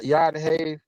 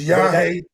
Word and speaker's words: Yahweh: But if you say Yad-Hey, Yad-Hey, then You that saying it wrong, Jay. It's Yahweh.